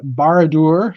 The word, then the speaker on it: Barad-dûr: Speaking of the Barad-dûr, did I say it right that time?